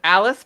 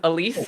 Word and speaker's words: Alice: uh which is that my name is alice but people often mispronounce it as elise and there's also an